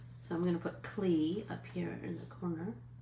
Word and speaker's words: Klee: So I'm going to put Klee up here in the corner. Paul. It looks like Klee, but it's pronounced Clay.